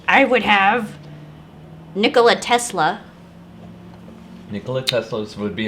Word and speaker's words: Nikola: pretty cool stuff so nikolai tesla yeah and then um oh his name is nikolai tesla it's not nikola nikolai yeah i'm pronouncing it right it's okay okay you're